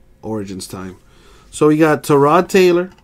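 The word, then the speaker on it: Tyrod: time so he got to Rod Taylor apparently the correct way to pronounce his name is to Rod not tie rod you know you can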